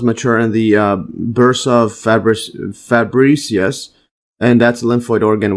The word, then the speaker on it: Fabricius: Let's see this pronunciation again. Fabricius.